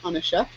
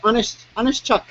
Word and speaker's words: Onishchuk: Yeah, I have to pronounce the ch more. It's Chuck, not Shuck.